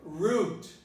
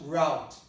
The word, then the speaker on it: root: It could also be pronounced route. Okay, that depends on what you might call dialect. Some people pronounce it root, some people pronounce it route. Root is, I would say, is more natural. And more people would say root in this case.